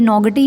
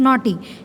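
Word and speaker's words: naughty: Monkey, नॉटी, देखो इसमें GH silent है। ये वर्ड्स तो हमें हमेशा ध्यान रखना चाहिए कि क्या साइलेंट है, ताकि हम नेक्स्ट टाइम बोलते हुए इसको गलत ना बोलें। अब ये नॉगटी नहीं है, दिस इज़ नॉटी, ठीक है ना।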